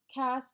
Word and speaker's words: LaCasse: The interview of LaCasse, did I pronounce that correctly? LaCasse, yeah, that's LaCasse, fine.